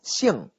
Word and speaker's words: 姓: Recuerden la pronunciación de la X y cuarto tono, ¿verdad? Nasal. 姓.